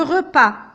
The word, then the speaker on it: repas: Souvent, on n'entend pas le son S. Il est placé à la fin du mot, mais je ne le prononce pas, je ne l'entends pas. Le repas, le tapis, pas, une